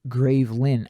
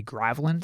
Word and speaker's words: Gravelin: AQ Worlds called gravelin gravelin is gravelin pronounced gravin okay I always say grelin so it's a good